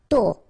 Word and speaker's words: tôt: Tôt. Okay, final T not pronounced, and then this O accent circumflex is a bit stronger than normally, so tôt, tôt, tôt.